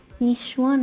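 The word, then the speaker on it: Yixuan: Well, someone's calling herself Yishun. I already forgot how to pronounce that name. Yishuan is here for you.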